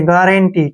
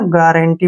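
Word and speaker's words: guarantee: है ना ध्यान से देखिए जी एयू को हम पढ़ेंगे ऐसे ग ठीक है ना ग और आर का उच्चारण र करेंगे ऐसे गर गर पढ़ेंगे गर ए का उच्चारण ए करेंगे एन का उच्चारण न करेंगे और टी का ट और बड़ी जो डबल ई है उसको बड़ी की मात्रा लगा देंगे एंटी ऐसे गारंटी ठीक है ना गारंटी पढ़ेंगे इसको गारंटी गारंटी होता है जमानत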